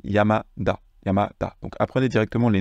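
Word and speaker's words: 山田: Mais dans le nom, on ne dit pas Yamata, on dit Yamada.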